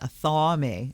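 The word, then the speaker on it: athame: that always cleanse and purify okay a family pronounced a thaw me a thaw me your magical knife ritual knives are blah blah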